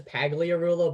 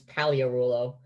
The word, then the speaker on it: Pagliarulo: pogliaroulo alia royal delivers it's a silence yeah oh it's uh a silent g it's yeah it's it looks like it's just it looks like it says pagliarulo but it's paleo rulo and it's perfect yeah mike